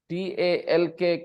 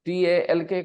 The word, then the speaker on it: talk: TALK को कैसे पढ़ना चाहिए आपको? टॉक। साइलेंट है। एल साइलेंट है। TALK को कैसे पढ़ेंगे दोस्तों?